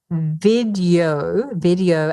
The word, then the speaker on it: Vidyo: mentioned earlier, is called Video AI, but it's spelled VIDYO, like yo-yo, Video AI.